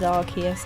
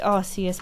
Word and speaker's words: Arceus: It used to be pronounced Arceus, but later got changed to Arceus.